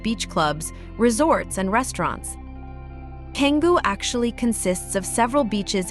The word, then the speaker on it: Canggu: Many tourists call Canggu, pronounced Canggu, the new Seminyak, and you could say the same applies to the silvery, sun-kissed beaches.